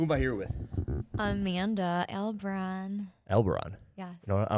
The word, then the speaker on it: Albarran: Albarran. Every time someone sees my last name, they're like, how do you say it? Albarran.